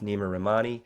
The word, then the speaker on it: Neama Rahamani: Stephen G here sitting with Nima ramani am I pronouncing your name correctly that's absolutely perfect thanks